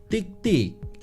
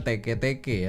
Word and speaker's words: tiktik: Tik tik. Kalau orang Indonesia mungkin bacanya tek-teke ya atau tek-tek. Tapi aslinya namanya tiktik.